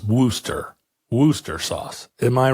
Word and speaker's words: Worcestershire: it is not pronounced Worcestershire sauce. The shire isn't even pronounced at all, and ultimately it's Worcester sauce.